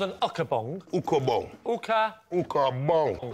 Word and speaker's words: Ukabong: Ukabong. Uka? Ukabong. How do you spell it, Narstie?